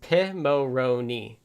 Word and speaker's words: Pimoroni: From their shop, Bruce says, Pimoroni stands for Pirate Monkey Robot Ninja, and sounds like the name of an expensive Italian lager. It's pronounced Pimoroni from their shop.